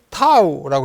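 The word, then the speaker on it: תו: 타우 이렇게 생겨요. 이걸 타우라 그러는데 이걸 타우를 읽는 법이 타우예요. 타우는 발음이고 요거는 글자예요.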